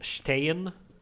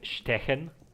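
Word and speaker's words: stehen: good pronunciation in German for example Stayin which means standing uh all of my classmates used to call it stechen how it's written but uh I'm I'm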